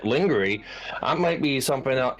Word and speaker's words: lingerie: he was in his an English word, lingerie, completely wrong, and phonetically as lingerie instead of lingerie.